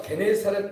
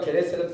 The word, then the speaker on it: 게네사렛: 원래는 이제 긴네렛인데 이제 우리 발음상으로 게네사렛이라고 한 겁니다.